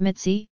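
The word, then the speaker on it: Mici: In February 1934, he married his longtime girlfriend Augusta Maria Messi, pronounced Mitzi, Harkonyi, the sister of a friend.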